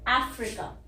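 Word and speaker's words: Africa: उसके बाद आ गया फ, र, यहाँ पे आई की छोटी ई है, अफ्रीका, ठीक है। तो यहाँ पे ये ए बोलना बहुत जरूरी है, अफ्रीका, और यहाँ पे छोटी ई है। लोग क्या गलती करते हैं, वो यहाँ पे अ बोल देते हैं, अ यहाँ नहीं बोलना है,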